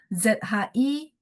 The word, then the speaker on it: zhi: Jadi ZHI kita bacanya zhi, I-nya nggak bunyi I tapi bunyi gitu ya.